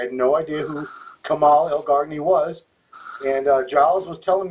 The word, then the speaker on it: Elgargni: Elgargni, that's right.